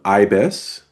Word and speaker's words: YBYS: I'm the uh founder and CEO of IBIS, which is spelled YB YS.